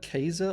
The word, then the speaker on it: Caesar: And another interesting fact is that the letter C was always pronounced as a hard C in Latin. So during the time of the Romans, the name we pronounce as Caesar was actually closer to something like Kaiser or Kaiser.